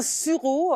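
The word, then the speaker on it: suros: Un surau enfin mais il y a un s qu'on prononce pas c'est une tumeur osseuse sur le canon du cheval.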